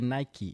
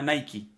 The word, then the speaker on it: Nike: Y la verdadera o la correcta pronunciación es Nike, porque como decía Joao, viene de la palabra Nike, que traducido viene siendo Nike. So, Mm. la pronunciación correcta no es Nike, es Nike. Yo cuando niño siempre decía Nike, Ujú.